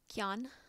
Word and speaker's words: Quan: Qian, I'm not sure how you pronounce the Q. I think it's more of a K sound.